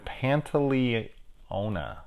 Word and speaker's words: Pantoliano: in this we've got Joe Pantoliano Panta Leona yes that's how you say his name which I will always